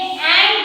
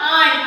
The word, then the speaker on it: ant: ये एंट है. This is नॉट आंट. आपने बहुत सारे बच्चों ने इसे प्रोनाउंस किया था आंट, पर आंट इज नॉट the correct pronunciation for this. This is एंट.